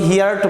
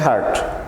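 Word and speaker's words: heard: এখানে হিয়ার এর তৃতীয় সারি মানে পাস্ট পার্টিসিপল ফর্ম হার্ড, অর্থাৎ আমরা অনেকে হিয়ার্ট বলি, আসলে উচ্চারণটা হবে হার্ট।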